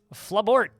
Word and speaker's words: Flabort: Flabort. Rhymes with Malort.